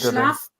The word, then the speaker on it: Schlaf: Well, pronunciation first of all. How do Schlaf.